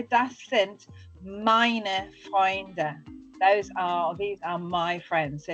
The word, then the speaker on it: Freunde: So remember that Freunde, and remember to pronounce the E on the end for your F, Freunde.